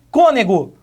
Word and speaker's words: cônego: aqui ó no finalzinho cônego cor nego mais uma vez acentuação é gráfica com acento circunflexo mostrando que essa palavra tem uma pronúncia é não aberta mais uma pronúncia fechada tudo bem que que